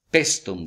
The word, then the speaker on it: Paestum: de una ciudad que se llama Preston se escribe paestum está en la costa